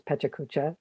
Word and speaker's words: pecha kucha: it chuck cha but i know it's a japanese word that's been adopted into english and it's find whatever